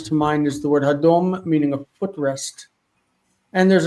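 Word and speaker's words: הֲדֹם: Another one that jumps to mind is the word hadom, meaning a footrest. And there's another one that's really much more common. See, hadom has a reduced first syllable.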